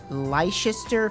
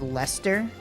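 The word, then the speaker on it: Leicester: Red Lister filled sausage roll. I don't know what lister is. Apparently it's where it comes from. Um Oh, it's cheese. Um. H. It's pronounced Lester.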